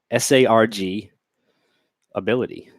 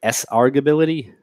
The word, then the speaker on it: sargability: Justin says, how do you pronounce SARG ability? How do I pronounce that word? Sargability. Search arg, you meant. Sargability. If anyone says sargability, ask them if they pronounce argument.